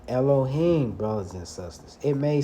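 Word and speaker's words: אלהים: I like to say Alahayim, but that's not the correct way of saying Elohim, brothers and sisters.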